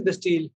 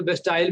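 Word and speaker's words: Bastille: What is बेस्टील, इट वाज कोई बेस्टाइल भी कह देते हैं टीचर, और मैंने फ्रेंच प्रोनाउंसिएशन देखी थी, वो बेस्टील कह रहे थे, तो मैं बेस्टील कह रहा हूँ, अब बेस्टाइल भी कह रहा हूँ, आपकी मर्जी है।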